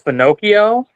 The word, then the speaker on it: finocchio: proper word is Finocchio.